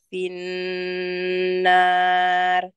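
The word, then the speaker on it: فِي النَّار: Fakana akibatahuma annahuma finnar. Finnar, karena ro itu ada fathah, jadi dibacanya ketebal ya.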